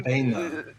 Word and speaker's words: Amphisbaena: Amphisbaena. Okay, that's how you pronounce it. You know, Yeah, same idea. Amphisbaena. I remember it because it's spelled kind of like Banery, but it's not.